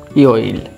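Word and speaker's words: 요일: হ্যাঁ, এখানে দেখেন ইয়োইল উচ্চারণ হবে ইয়োইল।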